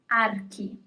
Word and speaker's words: archi: And the pronunciation is archi.